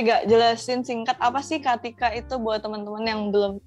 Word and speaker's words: Catika: Katika, Pak. Katika, sorry ya. Tulisannya Catika kalau kalian mau lihat di Instagram. Itu maksud saya Sandra. Sengaja nih salahnya. Oke. Supaya mereka bisa search CATIK. Tapi bacanya Katika.